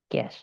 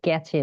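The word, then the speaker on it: cache: এটার বাংলা হচ্ছে ক্যাশ। আপনারা অনেকে ক্যাচে বলেন বা ক্যাচে উচ্চারণ করেন। এটা না।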